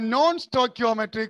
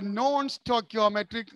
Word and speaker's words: non-stoichiometric: See here the word CHIO. CHIO. Say CH. It should be pronounced as K. K. So it is a non-stoichio, not sure. Not sure. Not sure. It is Q. Non-stoichiometric, chemistry, CH, K.